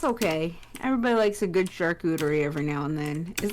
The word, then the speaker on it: charcuterie: Everybody likes a good charcuterie every now and then.